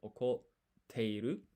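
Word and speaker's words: 怒っている: This tsu here is half size, so you don't pronounce it. You place extra emphasis on the T here. So it's okoteiru, which means angry.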